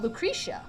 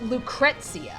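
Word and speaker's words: Lucrecia: know I was always yeah I would always pronounce her name Oh Lucretia but that but apparently when dirge of cerberus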